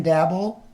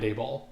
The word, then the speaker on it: Daboll: but out of Mike McDaniels, Shane Steichen, Brian Dabble, and Zach Taylor, who has the most pressure this year? Do you mispronounce names on purpose, or do you just not know his name is Brian Daboll?